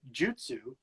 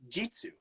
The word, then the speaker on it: jutsu: it out all right it's better to say jutsu than it is to say Jitsu because Jitsu sounds like another slang word that's going to get you in trouble don't do it right